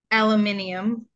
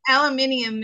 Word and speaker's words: aluminium: body excellent at removing aluminium sorry no no aluminum is the American pronunciation aluminium is the British pronunciation I I like that